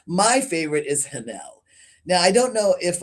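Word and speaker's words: Haniel: My favorite is Hanel. Now, I don't know if I'm pronouncing her name right. It's Daniel, only with an H at the beginning. So I say Hanel.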